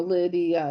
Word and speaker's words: Lydia: Okay, so but it's two syllables. But well it's actually more Lydia. It's three syllables.